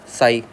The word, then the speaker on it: psi: Represented by स psi p silent है। स बोलते हैं इसको हम।